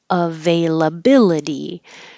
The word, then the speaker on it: availability: Ve will be longer as secondary stress. La bill is higher, bill higher and longer. D. And then I pointed out that any word that ends with ity that looks like itty will really sound like a d.